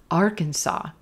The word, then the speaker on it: Arkansas: Yes, number four, Arkansas, Arkansas, olive sock, Arkansas, R, Arkansas, Arkansas. Moving from our olive vowel into our purple shirt, R, Arkansas, Arkansas.